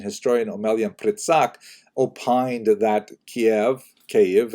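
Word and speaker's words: Kyiv: omelian pritzak opined that Kiev cave as it's pronounced today in the Ukrainian pronunciation cave was actually founded by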